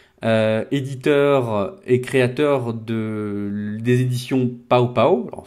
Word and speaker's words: Pow Pow: On est aujourd'hui avec Luc Bossé, éditeur et créateur des éditions Pao Pao. Alors, il faut bien prononcer Pao Pao, et non pas Popo à la française.